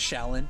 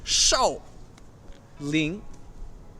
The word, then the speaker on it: Shaolin: American attempt to pronounce Shaolin it's not actually pronounce Shaolin it's so lean so Ling yeah so Li so Ling's yep